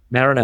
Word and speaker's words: Marenav: Marenav. Yes. Marine, and E like and Nav for Navy.